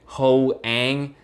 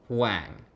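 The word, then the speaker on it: Hoàng: heard this before legit hoang like are you kidding me nobody's going out around here going hoenn around no no it's not Hoang it's Wang clang and a fun fact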